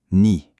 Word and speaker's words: knee: Est-ce qu'on a entendu le son K? Non, absolument pas. Il est complètement muet. C'est la première règle qu'on va décortiquer. La règle, elle est hyper simple. Quand un mot commence par KN, on oublie le K, on attaque directement la prononciation avec le son du N.